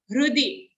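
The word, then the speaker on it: हृदि: First charan, sarvasya chaham hrudi. It's like a hruday ka hru, half her joined to a ru.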